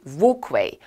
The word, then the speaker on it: walkway: 아까 영국식 발음으로 우리가 벽은 wall. 그래서 원래 걷다 영국 발음으로 walk. 따라서 사람들이 걷는 길, 인도 도보, 영국식 발음 walkway, walkway, walkway. 지금 발음 British, 영국 발음이죠?